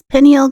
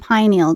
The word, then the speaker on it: pineal: There are two pronunciations for the word pineal gland. There's pineal gland and pineal gland.